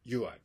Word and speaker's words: Yuai: stressed the importance of ui today ui is a thriving movement in japan and the movement is dedicated to the promotion of fraternity and peace now ui is spelled you i but it's also spelled